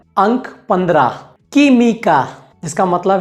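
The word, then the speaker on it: química: अगला नियम ये कहता है कि अगर कू और ऊ साथ में है तो यहाँ पर ऊ का उच्चारण नहीं होगा। उदाहरण के लिए अगर हमारे पास कू, ऊ और ई है तो हम यहाँ पर ऊ का उच्चारण नहीं करेंगे, तो हम यहाँ पर सिर्फ कू और ई को साथ में जोड़ेंगे और उसका उच्चारण करेंगे।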